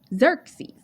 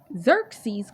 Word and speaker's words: Xerxes: because of the fact that I heard somebody mispronounce his name and it's going to make a good point Xerxes Xerxes called vashi out to be paraded before the